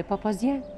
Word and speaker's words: بابازيان: كل التاريخ موجود في محل بابا زيان.